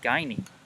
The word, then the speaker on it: Guiney: So the first batter steps in, and it seems I slightly mispronounced his name. It's, judging by the calls from the dugout as they cheer on their teammate, his last name is Guiney.